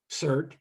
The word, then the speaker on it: CERT: didn't like the term cert but because it's pronounced cert and there's another s-e-r-t in portland that's a unit of